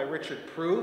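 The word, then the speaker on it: Richard Proulx: The piece after that is two variations on The Holly and the Ivy by Richard Prue. That's actually how you say his name. He used to actually joke about that. Richard Prue is a very, very, again, very prolific composer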